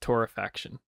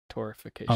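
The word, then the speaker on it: torrefaction: episode as well but I think it's pronounced Torah faction not torification oh my God or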